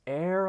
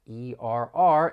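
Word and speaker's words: err: is that first word that e RR is pronounced as air or ER you may hear either one in the US I feel like most people are going to say air but it can be a little tricky because the spelling and the pronunciation don't really match to air on the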